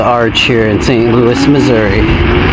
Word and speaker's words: Missouri: Louis, Missouri. Or Missouri, as my cousins pronounce it.